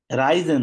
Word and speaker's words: Reisen: রাইজেন, রাইজেন, REISEN, রাইজেন এটা বলতেছেন? হ্যাঁ এটা বলতেছি, লেইজেন না, এটা রাইজেন। বলতেছেন, এই যে ট্রাভেল করা, হ্যাঁ হুম হুম।